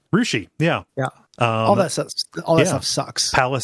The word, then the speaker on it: Russia: m I might say Russia no you claw Ria Ria rousi yeah yeah all that